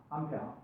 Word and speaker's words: 암페어: A라고 읽으면 안 됩니다. 암페어입니다. 암페어.